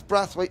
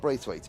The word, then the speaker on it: Brathwaite: we had a thing was it Braithwaite or brathwaite well it's spelled brathwaite now oh it is Monty's mum called me because I think Anthony is saying Brave face and I'm saying brathwaits it's breath okay cool we'll I'll go with Monty's mom if you're in the product come come to the scrutinering area and tell them tell Henry it's brass wait not Braithwaite it's spelled brathwaite I'm going